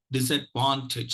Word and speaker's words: disadvantage: this is a Wantage disadvantage so uh so syllables one and syllable three are likely to be stressed syllable 3 will take the the first syllable will take the secondary stress and so that we